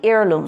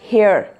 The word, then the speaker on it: heirloom: So family heirloom, so the pronunciation is heirloom, not hair. এটা কিন্তু the H is going to be silent, heir.